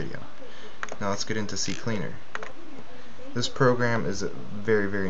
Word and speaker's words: CCleaner: going to go to the C cleaner website C cleaner yeah that's how you say it and I'm